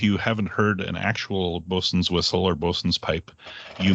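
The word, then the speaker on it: boatswain: month bosun i mean it's pronounced bosun and you could spell it b-o-s-u-n but in treasure island and most other sources it's spelled b-o-a-t-s-w-a-i-n you'd think it would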